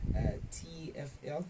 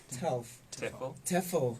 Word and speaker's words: TEFL: After finishing his TFL, he's going to pronounce it the correct way, TEFL, yes.